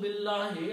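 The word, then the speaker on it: بالله: But in this case there is a kasra. So it should be billahi.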